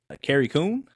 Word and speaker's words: Carrie Coon: Carrie Coon, did I pronounce that right? Correct, yeah. Declined returning as Proxima Midnight in Avengers Endgame after Marvel told her they wouldn't pay her more money.